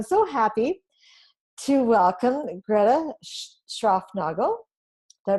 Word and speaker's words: Schraufnagel: And so I'm so happy to welcome Greta Schraufnagel. Did I pronounce that right?